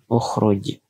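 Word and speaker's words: اخرج: Kita lihat huruf ketiganya, huruf ro ini berharokat dhammah. Maka hamzah wasalnya dibaca dhammah. Maka cara membacanya adalah ukhruj.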